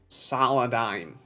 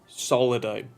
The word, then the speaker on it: Solidigm: kind of way, it's Solidigm. Solidigm. But yeah, it's a fusion between solid, as in solid state drive, and paradigm, as in we offer a paradigm shift in SSD tech.